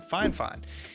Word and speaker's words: FiFine: at this microphone from fine fine and yes that's how the name is pronounced that's what the company told me and they did send